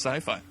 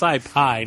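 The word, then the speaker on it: Scipio: Lord that's name is sci-fi want to see William hartel running across the field I think it's scipi not SciFi I think the H is silent you said tomato tomato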